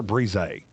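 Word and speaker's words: Bresee: Is it Breezy or Breeze? Breezy.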